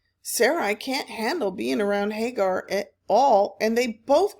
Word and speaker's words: Hagar: it that hag um Hagi did I say her name right Hagar there it is you would have hated